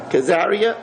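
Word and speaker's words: Caesarea: English maybe somebody knows cesaria karia it's pronounced khazaria okay so anyway it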